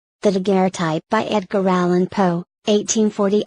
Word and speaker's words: daguerreotype: This word is properly spelt daguerreotype, and pronounced as if written daguerreotype. The inventor's name is Daguerre, but the French usage requires an accent on the second D, in the formation of the compound term.